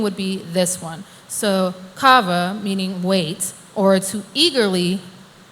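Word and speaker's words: קוה: It's pronounced kava, and there's two different sides to it.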